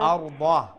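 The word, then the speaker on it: الأرض: Arda, dad has a fatha, a zubar.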